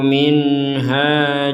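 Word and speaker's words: مِنْهَا: Jadi harus dibaca jelas min ha. Min ha. Jangan dibaca minha atau samar minha. Jadi harus jelas minha ha.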